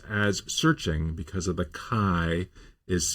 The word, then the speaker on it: SearXNG: but at the same time, I've seen other tools that use the chi means that the X is a k sound.